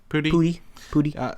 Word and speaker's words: Pudi: We said, how do you pronounce his last name? Pudi.